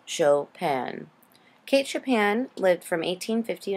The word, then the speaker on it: Chopin: to the podcast for Kate chopan it is pronounced chopan Kate chopan lived from 1815 in 1904 she